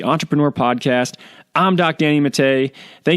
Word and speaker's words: Matta: It's not Matta, it's Matte. We're the only people that pronounce it that way, but that's how you spell it.